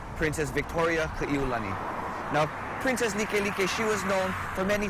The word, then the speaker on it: Likelike: Now when people see this word Likelike, sometimes they say like, hey bro, let's go eat at like driving. But the importance of understanding the correct pronunciation of this word is because Likelike gets its name from one of our royals